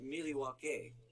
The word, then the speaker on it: Milwaukee: In fact, isn't Milwaukee an Indian name? Yes, Pete, it is. Actually, it's pronounced Miliwake, which is Algonquin for the good land.